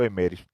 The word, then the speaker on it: Emmerich: beata da igreja ana catarina emmerich e não semeie e se pronunciam emery essa é a beata